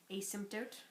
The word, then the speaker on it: asymptote: function in an the no say it again asymptote of a function is an imaginary line towards